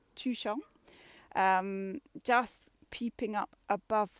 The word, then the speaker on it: Tuchan: the cloud is tucson we know how to pronounce touchon two number two and sean like the sun tuchong um just peeping up